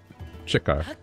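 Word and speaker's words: Chiko: It's like C-H-I-K-O. Chico. If you want to say it like an Aussie.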